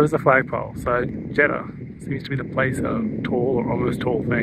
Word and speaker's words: Jeddah: theed have a good that's not how you say jeda how do you say